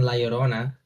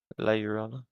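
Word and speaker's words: La Llorona: How do I No, no, that's not how you pronounce it. Yeah. It's It's got a much harder Y sound. Lijoana, yeah? Lijoana. Lijoana. La Yorona Okay.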